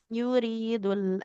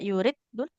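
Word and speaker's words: يُرِيدُ: Tidak yurid dul. Huruf dalnya tidak bertasydid ya. Tidak yurid dul. Nggak boleh kita tekan. Boleh Yuridul. diulang. Yuridul. Tidak yuridul. Ro-nya kasroh ketemu ya. Harus dipanjangkan. Yuridul akhirah.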